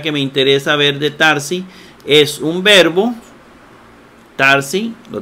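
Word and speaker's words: θάρσει: Tarsi, lo que dice Jesús, Tarsi o Sarsi, ¿verdad? Algunos lo hacen con Z, Sarsi, como es el moderno, la pronunciación moderna. Tarsi, pero a mí me gusta Tarsi.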